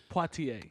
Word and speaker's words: Poitier: Poitier.